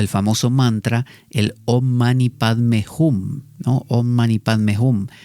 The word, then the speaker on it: Om Mani Padme Hum: O el famoso mantra, el Om Mani Padme Hum, ¿no? Om Mani Padme Hum, que los tibetanos lo pronuncian Om Mani Peme Hum, ¿no?